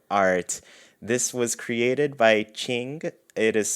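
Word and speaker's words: Qing: this wonderful new art this was created by ching it is spelled q-i-n-g and they did such an amazing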